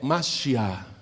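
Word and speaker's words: משיח: Mas em hebraico é Mashiach, e quer dizer ungido.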